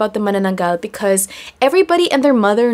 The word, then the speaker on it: Manananggal: You might have heard it being pronounced as Manananggal. Correct pronunciation is Manananggal.